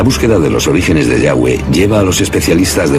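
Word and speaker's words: יהוה: Pensamos que probablemente se pronunciaba Yahweh o algo así.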